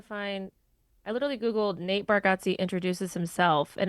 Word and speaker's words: Bargatze: It's Bargatze is how he says it.